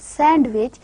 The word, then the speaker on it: sandwich: sandwich to them but the exact pronunciation is not sandwich it is sandwich the da sound it is elided it is omitted similarly postponed it is